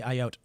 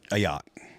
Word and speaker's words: Ayotte: 22-year-old man charged with threatening to kill New Hampshire Governor Kelly Ayotte. How do you pronounce that? Ayotte? Yeah. Ayotte.